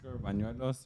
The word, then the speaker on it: Bañuelos: If you guys want to know and follow Danny, you could follow him under Danny _ but Bañuelos. Is that how you say it, Danny? Yeah, Danny _ Bañuelos.